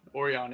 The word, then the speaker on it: Orion: no this is yeah orion oreon is how you pronounce it but yeah i get